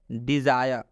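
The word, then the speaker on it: desire: Last example समझ लीजिए, डिज़ायर, डिज़ायर में भी आई के बाद से RE आया हुआ है, इसलिए इस आई का उच्चारण हम लोग आय से करेंगे। क्या चीज़ से करेंगे, आय से।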